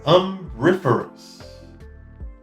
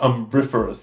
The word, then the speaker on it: umbriferous: This one is umbriferous. Umbriferous. Umbriferous? And that means providing shade. Ooh, yeah. And let's just double check I'm saying that one correctly. Umbriferous. Yeah, umbriferous. Umbriferous.